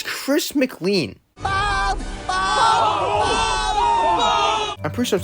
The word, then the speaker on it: Chris McLean: I'm your host, Chris McLean.